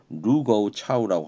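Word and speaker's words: 盧溝橋: 이게 이제 우리 한자로는 노구교인데 뭐 일본 그 중국 발음으로는 루거우 차우라고 합니다.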